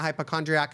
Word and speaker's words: hypochondriac: They don't even pronounce it right. Hypochondriac. There's no T. There's no T. No T is hypochondriac. No T.